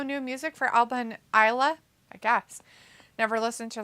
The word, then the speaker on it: Isla: It's like an island. Isle. The S is silent, like an island.